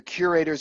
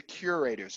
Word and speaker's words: curators: have to say the curators are. And it's curators, not curators. In Spanish, that would be curatos or curatos. I don't know what it would be, but it's curators.